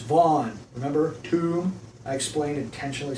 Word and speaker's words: Van: so people are just dense that way it's Vaughn remember too I explained intentionally say ignored me